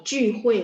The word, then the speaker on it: 聚会: Kalau 聚会 mulutnya bulat ya bacanya ya.